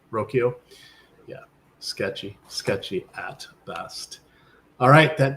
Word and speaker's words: Rocchio: Jonathan Rodriguez, Will Wilson, Austin Hedges, Brian how does he pronounce his name? Rocchio.